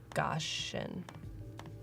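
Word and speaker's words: Gaussian: with like cap exactly I say goian but I'm sure it's goshan who knows the yeah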